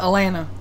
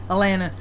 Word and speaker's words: Atlanta: fact that I said Atlanta I know I pronounced that correctly the other they should well excuse me I live in Georgia you're supposed to pronounce it Elena without all the t's without Elena I live in Atlanta